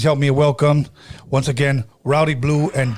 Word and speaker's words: Rowdy Bluee: Please help me welcome, once again, Rowdy Bluee and Joe Seis.